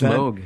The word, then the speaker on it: Mogh: It is Mogh. It's pronounced Is Mogh. it pronounced Mogh, really? It is pronounced Mogh.